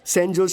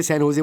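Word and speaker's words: San Jose: Oh sorry sorry sorry sorry sorry, सैन होजे, SANJOSC, इसकी spelling यही है ना, लेकिन इसमें जे साइलेंट रहता है, इसलिए इसे सैन होजे बोलते हैं।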